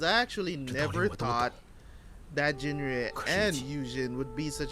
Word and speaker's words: 景睿: It's Jinrui, yeah?